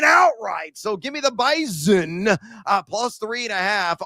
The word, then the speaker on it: Bison: Give me North Dakota State A of the Bison. I got to pronounce that with like a Z sound, also known as Carson Winchu.